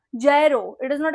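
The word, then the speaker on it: gyro: प्रोक्सिसली tell that that is the wrong pronunciation this is ये जी is silent ये वो इट्स a sandwich not अ फिजेड spinner या जरो इट इज नॉट अ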